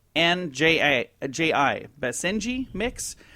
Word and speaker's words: Basenji: saved this it's I don't know how you pronounce this b a s e NJ ji Basenji mix say orangish colored dog 30 lb puppy